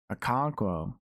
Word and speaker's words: Okonkwo: Okonkwo.